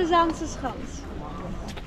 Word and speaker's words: Zaanse Schans: to the zans H can you pronounce that zans HT s's H H you're doing quite well we have so the first part of the word zansa comes from the Zan the river behind you and also from